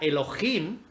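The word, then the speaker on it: אלהים: Y en hebreo la palabrita Dios es la 430, que se pronuncia Elohim, que significa dioses en sentido ordinario.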